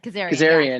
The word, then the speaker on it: Kazarian: Kazarian.